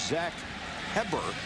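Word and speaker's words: Heberer: And even though his name is spelled H-E-B-E-R-E-R, it is Zach Heber. There's a few extra letters in there. Yeah, they just threw in another E-R.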